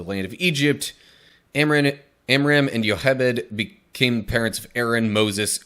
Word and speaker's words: Jochebed: That in the English spelling, that looks like it would be like Jochebed, but this is one of those ones where I actually kind of know the Hebrew pronunciation. Thank you, Prince of Egypt movie. It's pronounced Yochebed.